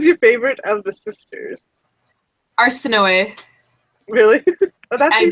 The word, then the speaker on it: Arsinoe: And after I learned how to pronounce it, I kind of like the way it sounds. I liked Arsinoe. There's also because. Sorry? I like that so much better because I was calling her Arsinoe, and I was like, I don't like this